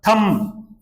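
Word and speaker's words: thumb: यह उच्चारण देखें आप थम यह जो उच्चारण होता है ना य ये इसमें बी साइलेंट होता है थम बोलेंगे जैसे कंगा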